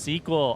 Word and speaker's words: SQL: It's pronounced squeal. It's pronounced suckle. It's pronounced however the freak you want. SQL. SQL. How's it actually pronounced? Tell me so that I can forget and pronounce it how I want. Oh, I got caught on the sign. It's pronounced sequel.